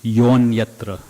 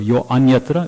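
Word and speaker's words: yo 'nyatra: So instead of saying yo anyatra bhushara, yes, it is anyatra, but the way we say it is yonyatra. Instead of yo anyatra, it's yonyatra.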